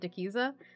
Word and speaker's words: Dikiza: I pronounce it Dikiza, but technically any way anyone wants to pronounce it is correct. Because it is not a real word.